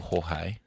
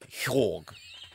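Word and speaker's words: Joerg: Hwag. Whack. Whack. Whack. I've got to get my pronunciations ready for Eurovision. I'm going with a soft J, like an H.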